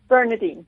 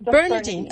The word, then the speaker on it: Bearnairdine: Her name is Bearnairdine. Is that correctly pronounced, Bearnair? Approximately, yes. How should I say it? Bearnairdine. Bearnairdine.